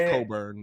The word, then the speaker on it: Cockburn: his name is cockburn though it's coburn now it's coburn it's coburn is silent the ck is silent dog you got a